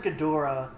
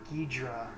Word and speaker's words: Ghidorah: Because I've always pronounced it as Ghidorah, but there are some people that call him, like, Ghidra.